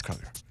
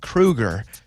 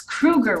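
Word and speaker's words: Kroeger: frontman for nickelback and it is kruger right because you know 50 of the internet says kroger 50 of the internet says krueger okay it's it's krueger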